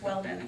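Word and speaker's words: Weldin: There are lots of different ways to spell Weldon, but interestingly enough, they're all pronounced the same. They're all pronounced Weldon, and we spell our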